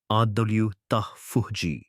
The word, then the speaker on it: autophagy: This process is called autophagy pronounced adulji which comes from Greek words meaning self-eing.